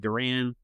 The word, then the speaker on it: Duran: They were only 5.5 games out of a wild card, but, they traded Duran. Yeah. Is that how you say his name? Yeah. Johan Duran.